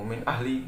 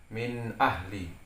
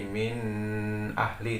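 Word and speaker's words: مِنْ أَهْلِ: sini ada minta ahli jadi membacanya menjelaskan suara non matinya ya Jadi tidak boleh nggak dibaca kaku Min ahli Nah tadi kita bacanya dibaca seperti biasa cuman sorenya dijelaskan Min ahli tapi tidak boleh juga didengungkan terlalu lama seperti minus ahli itu salah jadi min ahli kemudian sini non mati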